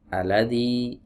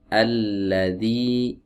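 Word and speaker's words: الَّذِي: sampai dibuang ya tasdidnya Jangan dibaca aladzi alladzi tapi alladzi fatal teman-teman kesalahan seperti ini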